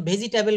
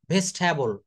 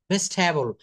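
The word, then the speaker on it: vegetable: Practice করি আমরা যেমন ভেজিটেবল বলি যখন একজন ফরেনার বলবে তখন সে কিন্তু ভেজিটেবল বলবে না। সে কি বলবে জানেন? ভেস্ট হ্যাবল। ভেস্ট হ্যাবল।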